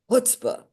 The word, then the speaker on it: chutzpah: It's not hoot. It's spelled. It's hard because it's not a sound we really have. It's hbah.